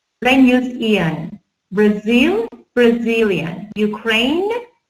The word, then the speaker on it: Ukraine: Ukraine, you see we have silent E here. Ukraine, Ukraine, silent E.